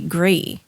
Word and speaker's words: Gris: Well, what we've learned is Pinot Gris is the French base, like it's the French wine, Right.